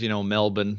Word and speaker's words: Melbourne: Yeah, I know it's pronounced Brisbane though, so I was annoyed. But and Melbourne is, Melbourne.